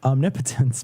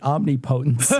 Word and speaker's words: omnipotence: And it's pronounced omnipotence, but when we were kids, we pronounced it omnipotence.